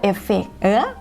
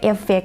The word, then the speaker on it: effect: ตัว แรก นะ คะ เวลา ที่ เรา พูด special effect มัน เป็น เอฟเฟค ไง แต่ ว่า ภาษา อังกฤษ นะ คะ ออก เสียง ว่า ใช้ เสียง สระ อิ นะ คะ ดี ที่ สุด จะ ชัด ที่ สุด นะ คะ อีก แฝด